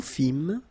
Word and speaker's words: fîmes: Nous fîmes, same thing here, you don't pronounce the S.